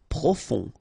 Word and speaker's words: profond: Profond. Final D not pronounced. O-N, on. Profond.